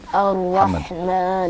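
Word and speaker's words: الرحمن: Ar-Rahman Ar-Rahim.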